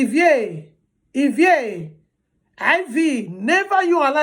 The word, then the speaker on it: Ivie: Never you allow anybody call your daughter abbreviation of Ivie as Ivy. It's not Ivy, it's Ivie. It's Ivie, not Ivie. Ivie, no, it's Ivie, it's pronounced as Ivie.